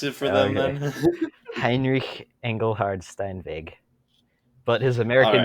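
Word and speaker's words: Heinrich Engelhard Steinweg: created in Manhattan New York in 1853 by Henrique Engelhard Stein Vig okay you know what we pronounced that wrong okay you want to pronounce it for the Heinrich Engelhard Stein big but his American name was Henry angle hard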